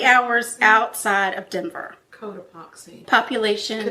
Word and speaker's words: Cotopaxi: She grew up in, oh God, I hope I pronounce this right, Cotopaxi, Colorado. 3 hours outside of Denver. Cotopaxi. Population. Codoxapy.